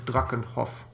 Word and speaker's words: Drakenhof: I believe if it's German, it's Drakenhof.